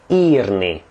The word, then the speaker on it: írni: Írni, because that is a long E.